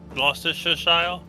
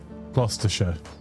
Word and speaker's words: Gloucestershire: Yeah, to be fair, like, just don't pronounce all the letters isn't a good guide for anything. Is this Oldham of Gloucestershire? Gloucestershire.